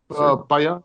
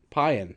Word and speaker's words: Payan: Payan? Payan. It's like Mayan, but with a P. Okay, Payan.